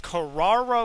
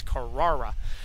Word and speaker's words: Carrara: most mispronounced Porsche color it's Carrara white metallic there is no ease in that it's Carrera so all A's but really a nice